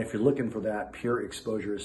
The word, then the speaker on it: PureXposure: PureXposure Media Group, of which we are partners in, myself, Mike, and another person.